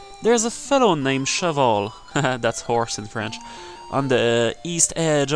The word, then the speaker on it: Cheval: guy yeah and friend in French it's Cheval and in English like the best I could pronunciate that would be shovel or something like a shovel uh yeah it's Chevelle